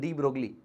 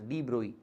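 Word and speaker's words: de Broglie: Indians call him Drogley but his correct pronunciation is Droy.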